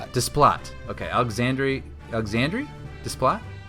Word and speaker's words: Desplat: I I think it's Desplot. Desplat.